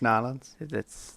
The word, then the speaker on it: New Orleans: Because I'm ready to hear about Nolans Square. Am I supposed Sweet. to say it like that? Because I've always heard conflicting. It's Nolans.